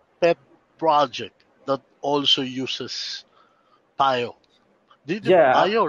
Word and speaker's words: Pyo: Do you have a dream pet project that also uses Pyo? Pyo, right? You pronounce yeah, it Pyo.